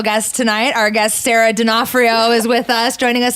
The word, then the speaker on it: D'Onofrio: we're joined by Sarah D'Onofrio am I saying your last name yes you're the only one who said it right called you sarah de for neo like the guy from a law-and-order SUV but I think it's